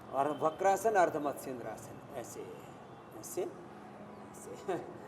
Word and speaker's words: अर्धमत्स्येंद्रासन: या अर्धमत्स्येंद्रासन, कुछ लोग ऐसे अर्धमत्स्येंद्रासन बोलते हैं, ये ठीक इसका उच्चारण नहीं है, सही है अर्धमत्स्येंद्रासन, मत्स्येंद्रासन जी।